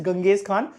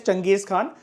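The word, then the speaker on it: Genghis Khan: इसको वैसे स्पेलिंग जो लिखी होती है दैट इज गंगेज खान। बोलने को आप देखो कुछ भी बोल सकते हो, उसमें कोई लोड मत लिया करो, लेकिन हम इसकी प्रोनाउंसिएशन जो जैसे करते हैं दैट इज चंगेज खान, जिसने मंगोल ट्राइब्स को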